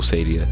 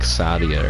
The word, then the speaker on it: Stadia: The Google Stadia, which I think has an interesting pronunciation to it. The Google Stadia. I would have assumed it was not pronounced that way. I would have thought it was like the Google like Sadia or something.